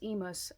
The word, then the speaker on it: Emos: uh his name is emos I had been pronouncing that name wrong I thought it was Amos but it's Emos but anyway he saw my